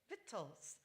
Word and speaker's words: victuals: the OED website and ask how to pronounce the Victuals, you will hear a friendly woman's voice in an English accent. Sort of a stuffy accent, and she will say, Vittles, Yes.